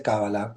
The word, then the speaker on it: cábala: en castellano se dice cábala pero es indistinto se puede decir de los dos modos perfecto Sí va a